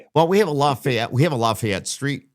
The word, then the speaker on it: Lafayette: There's a street here called Lafayette, and I can tell if you're from Nashville or not by how you pronounce that one street. If you say Lafayette, if you say Lafayette, you're from here. If you say Lafayette, you're not from here.